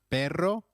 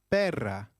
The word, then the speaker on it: perra: Gatos some more quizzes how will you translate a female dog is it una pero or una Pera or perro a female dog becomes una Pera note the use of una and change of perro to perra let's revise